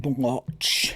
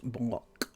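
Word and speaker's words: Bloch: blotch no Sarah no it's not blotch in fact I've been reliably informed it's actually pronounced block yeah anyway just just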